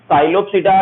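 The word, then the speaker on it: Psilopsida: साइलोप्सिडा, लाइकोप्सिडा, सिफेनोप्सिडा और टेरोप्सिडा। ठीक है, ये टेरोप्सिडा में पी साइलेंट रहेगा, साइलोप्सिडा में पी साइलेंट रहेगा।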